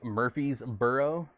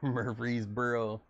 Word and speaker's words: Murfreesboro: it from going through it's pronounced murphy's burrow mur murfreesboro oh man anyways that's